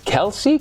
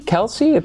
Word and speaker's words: Kelce: he teased that Travis Kelsey Kelce that's how you say his name the the NFL guy